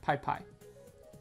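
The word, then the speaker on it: Pis Pis: And the piss piss is pronounced pie pie.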